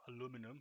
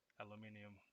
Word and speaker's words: aluminium: was to search for aluminium or aluminum if you want to be from the us please don't aluminium okay that's how you say it all right sorry uh